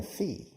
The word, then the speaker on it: fee: You earn a fee. F-E-E. Like pies, feet. Take off the T, it's a fee.